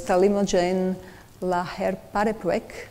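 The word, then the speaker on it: talimogene laherparepvec: And the name is really not easy to pronounce. So it's Talimogen laherparepvec, and there is a short form.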